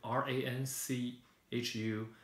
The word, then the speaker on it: Ranchu: And then if you found the pronunciation translated now back to R-A-N-C-H-U as Ranchu.